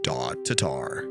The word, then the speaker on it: Tatar: Tatar how did he spell it show us no he k r i how do you pronounce it t i n t a t t tarar Tatar Tatar Tatar oh dang that was cool though